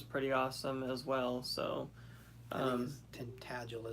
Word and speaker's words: Tintagel: Tintagel is what they pronounce it.